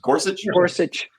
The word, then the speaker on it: Gorsuch: Justice Neil gor gors how do you actually pronounce that name Gorsuch yeah we he even he says we live